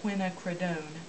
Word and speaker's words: quinacridone: by Winsor and Newton I'm not sure in the pronunciation of that but it's um it looks like quinacridone and I think it's pronounced quinacridone i'm also going to use